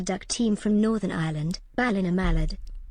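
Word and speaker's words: Ballinamallard: Ballina Mallard. It's Balna Mallard Smile.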